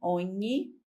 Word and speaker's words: ogni: Ogni significa cada. Tem que prestar atenção na pronúncia.